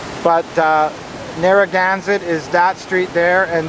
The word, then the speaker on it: Narragansett: street called uh narragansett however i pronounced it narangaset and everybody laughed at me but uh narragansett is that street there